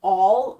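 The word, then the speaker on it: awl: Uh, the actual tool that you'd be using is called an all, spelled A W L, spelled and pronounced A L L.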